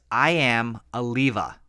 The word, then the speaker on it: Iamaleava: It literally phonetically is I am Aliva. Like leaving you.